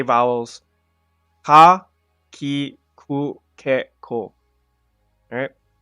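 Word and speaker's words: か: Almost like you're saying ka, but without the a. That's ka. With a C-A-H. That's pretty much the pronunciation that you would be using. Ka.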